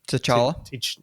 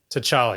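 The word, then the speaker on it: T'Challa: Tala. Tchala.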